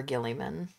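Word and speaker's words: Guilliman: I do remember Gilliman.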